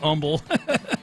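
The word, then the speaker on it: Humble: of pointing out that he knew how to pronounce Umble, but it was funny.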